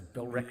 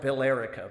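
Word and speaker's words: Billerica: in Bill rck Massachusetts that's the way the locals pronounce it is Bill rck yes yeah shame on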